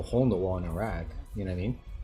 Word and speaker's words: Iraq: in Iraq, or Iraq, I guess is how you're supposed to say it. Iraq. That's the correct pronunciation, not Iraq.